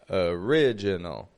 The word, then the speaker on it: original: dark L's come together original so we've got three schwas in the word original after that how about